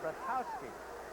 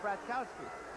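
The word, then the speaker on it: Bartkowski: a game once and i asked everybody how to pronounce it they said rakowski rotowski later when he came into the nfl i said how do you pronounce your name he said bratkowski i said why did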